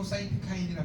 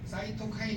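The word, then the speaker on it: cytokine: 사이토카인 해도 돼요. 일본 사람들 때문에 사이토카인이 된 거야. 발음 못해. 일본 사람 그 발음 잘 못해요. 사이토카인 이렇게 해요.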